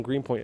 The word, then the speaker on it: Greenpoint: vegan places here in greenpoint as well janice says i should pronounce that those t t's green point there we